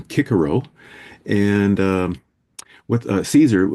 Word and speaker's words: Cicero: Like Caesar Caesar himself would have called himself Kaiser and Cicero would have been Kickaro.